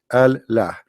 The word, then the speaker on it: Allah: Now Allah, it became one word through time because it's pronounced together, Allah, but in fact it is two words.